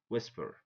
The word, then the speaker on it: whisper: Where, what, whisper, whisper. Yeah, the H comes after W, so the H is silent.